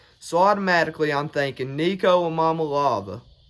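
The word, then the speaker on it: Iamaleava: automatically I'm thinking Nico AMA lava cuz that's what how I say his name amama leava is like his name but I sayama laava um you think I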